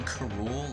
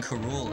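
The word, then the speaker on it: K. Rool: king k rool was supposed to be like pronounced king karool like cool because i was watching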